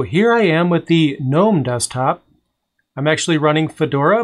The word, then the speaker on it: GNOME: have a habit of calling it gnome with a silent g which is technically the proper english way to pronounce it but i just wanted